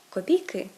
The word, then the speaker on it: копійки: завдання читання видання наступне у багатьох іменників жіночого роду де є суфікс к у множині наголос переходить на закінчення наприклад копійка копійки жінка жінки квітка квітки ластівка ластівки але тут не все так